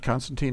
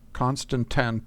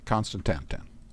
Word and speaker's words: constantan: 10 of them how was that happen and Constantine ingots and glass so let's go back and get that stuff actually I probably pronounced that wrong how should I pronounce that constantan 10 okay constantan and uh glass am I going to have